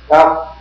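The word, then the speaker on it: ת: A Dot on the Taf is pronounced Taf, D, and without a Dot is pronounced like the TH in the English word thin. It's not like a Samach, like the Ashkenazim do it, because Samach is Samach. And the Sin is Sin. The Taf without a Dot is like a TH.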